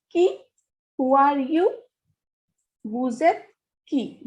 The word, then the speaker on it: vous êtes: Vous êtes qui? Who are you? Vous êtes qui? Vous êtes will be read as the relationship between S and E. So S sound is transferred to E.